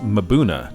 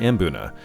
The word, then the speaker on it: mbuna: kg Tropicals video and he actually says it's correctly pronounced Mauna not embuna I'll probably still say